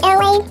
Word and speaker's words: Elay: This is Elay, pronounced like LA like the city.